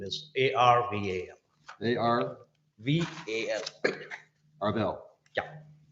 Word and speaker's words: Arval: Arval, last name is Arval. A-R, VAL. Arvel. Yeah. Did I say it right? Arvel? Arvel? Yeah.